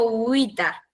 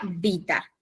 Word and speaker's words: vita: Bueno, en el latín clásico, la V corta se pronuncia como una U unida con una E. O una I. I es como pero digamos, el sonido fuerte es la U. Y por eso yo digo uita en vez de vita en latín clásico.